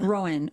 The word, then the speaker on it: rowan: treats were sacred am I saying it right Rowan yeah Rowan oh Rowan treats were sacred to the Kelts